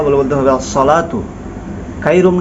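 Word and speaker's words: الصلاة خير: দেখেন যদি আপনি ফজরের আজান দেন অনেকে বলে আসসালাতু খাইরুম অর্থাৎ এখানেও সদের জায়গা সিন উচ্চারণ করে তো দেখেন এক অক্ষরের জায়গা আরেকটা অক্ষর উচ্চারণ হচ্ছে লাহান জলি হচ্ছে এখানে হাইয়া আসসালাতু বলতে হবে সদ দিয়ে আসসালাতু খাইরুম অনেকে বলে খাইরুম অর্থাৎ খ উচ্চারণ করতে পারে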